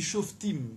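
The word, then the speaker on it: Shoftim: dans livre des juges les juges ça se dit chauffe team ou chauffer team si vous bien prononcé en hébreu le che var se prononce à entendre show fait ou chauve team au pluriel non pas comme un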